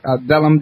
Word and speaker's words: Willem: his name is Vellum and it's spelled with a W but it's pronounced like a V now uh Vellum I